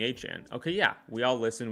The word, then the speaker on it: Etienne: into the league and everybody's calling him Etienne cuz that's how it's spelled and then all of a sudden he in draft season he says no it's Etienne please call me Etienne.